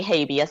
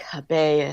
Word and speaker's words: habeas: it then I get I kind of kick myself a little bit when I say habeas because that is definitely the American Lawyer pronunciation of it but in my head I'm like Hebei as' so so the idea